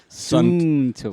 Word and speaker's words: Suunto: Suunto. Suunto. Suunto. Suunto. Soon, like very soon, and Like, toe.